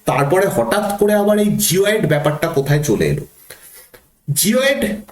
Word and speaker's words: geoid: এটা জিওয়েড নয়, ইংরাজি যে শব্দটা সেটা হচ্ছে GEOID উচ্চারণ করলে হবে জিওয়েড।